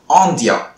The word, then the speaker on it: indien: Anyway, இங்கிலீஷ்ல இந்தியன் அப்படின்ற nationality, இதுக்கு பிரெஞ்சு நம்ம சொல்லும்போது ஆந்தியா. என்ன வேர்டு? ஆந்தியா ஆந்தியா. இப்படிதான் நம்ம வந்து பிரெஞ்சை உச்சரிப்போம்.